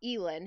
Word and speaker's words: Elin: Elin, who used a golf club to break the